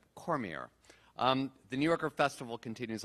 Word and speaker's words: Cormier: Did I pronounce that correctly? Was that Cormier? Hope so. Rhonda, did I get that right? Is it Cormier? I did. Okay, yes. Good. Cormier.